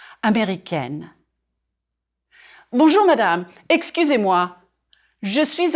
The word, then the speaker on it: américain: And then the adjective, américain or américaine. If you are a man, je suis américain, américain. 4 syllables. Américain. Drop your jaw on the final nasal sound.